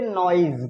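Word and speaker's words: noise: ई ये क्या लिखा है न इसको पढ़ेंगे नोइज क्या पढ़ेंगे नॉज एक वर्ड है जैसे सीजन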